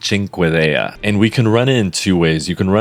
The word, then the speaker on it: Cinquedea: this video is that the weapon's name is pronounced Cinque DEA and we can run